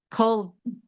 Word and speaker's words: Colvett: The Andrew Colvett, did I say it right? Colvett. Colvett with a T at the end.